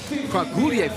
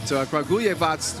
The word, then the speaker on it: Kragujevac: I finally got that name right, thanks to Julian above. So Kragujevac. I was saying it wrong earlier, but Kragujevac was able to get it done in the qualifying draw.